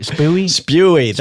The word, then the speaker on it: Spewy: Spewy.